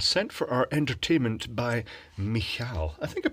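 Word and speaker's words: Michał: gift from Poland sent for our entertainment by mik I think I pronounced that correctly it's the Polish equivalent of Michael and it's pronounced uh mik but spelled m i c h a l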